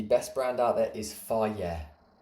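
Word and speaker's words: FAGE: So what I think you need to understand here is on yogurt Greek yogurt the best brand out there is fier not not pronounced faji fier is unbelievable per 100 grams I think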